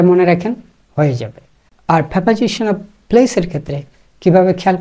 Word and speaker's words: preposition: Firstly বলে রাখি, প্রেপোজিশনের উচ্চারণটা আপনি একটু যদি ঠিক করা যায় তাহলে ভালো হয়। ইটস নেভার প্রিপোজিশন, অনেকে প্রিপোজিশন বলেন, এটা প্রিপোজিশন না, ইটস প্রেপোজিশন।